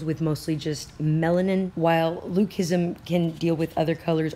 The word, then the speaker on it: leucism: about today is called Luc ISM now first of all the spelling of Luc ISM is not agreed upon le you see or Ellie UK but it is pronounced Luc like Luke I am your father